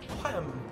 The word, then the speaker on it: Wham!: Wham! She's in the van! Wham? I don't think she is. You gotta really pronounce the H in it.